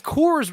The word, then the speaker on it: Kors: until just now is Kors rhymes with yours why doesn't that yeah